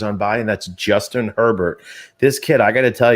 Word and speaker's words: Herbert: say that i think you pronounce the h it is not silent as in like pepper is an herb it is actually herbert and and the reason